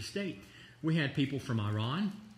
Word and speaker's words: Iran: We had people from Iran. And that is how you say it. It's not Iran. Iran is doing this.